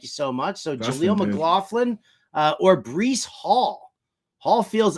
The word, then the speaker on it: Jaleel McLaughlin: We got the we got the official pronunciation from Dustin. Thank you so much. So Dustin, Jaleel McLaughlin or Breece Hall.